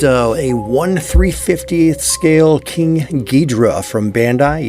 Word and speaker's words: Gidrah: a 1350 scale King gadra from Bandai yes I said gadra not gadora because that's how it's spelled apparently there is a